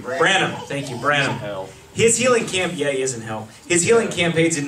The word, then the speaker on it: Branham: Branham.